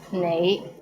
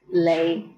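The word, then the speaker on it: 你: is the word you the right way to pronounce it is nay but in Hong Kong many people pronounce it as Le how was it pretty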